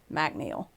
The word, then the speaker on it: MacNeill: And if you guys are looking it up, her her last name is spelled M A C N E I L L McNeel.